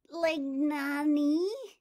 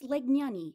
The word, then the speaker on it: Legnani: uh i'll try miss lagnani duck drawed clumsily struggling with the unfamiliar pronunciation no it's legnani legnani say it correctly duck paused pursing her